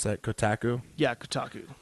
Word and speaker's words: Kotaku: this is a I don't know how to pronounce that kotaku yeah kotaku k ot aku calm and they've